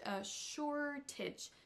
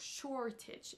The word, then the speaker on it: shortage: a le mot shortage shortage c'est la première syllabe qui est accentuée et non la dernière on dira bien donc shortage et non shortage comme le fait monsieur Macron écoutons son erreur